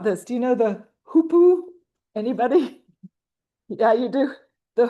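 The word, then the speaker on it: hoopoe: Do you know the hoopu? Anybody? Yeah, you do. The hoopu is its name. It's spelled h o o p o e.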